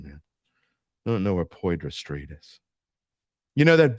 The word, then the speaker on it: Poydras: And my 13-year-old actually said, Dad, where is Podras Street? Podras? Yeah, the Poydras. That's Poydras.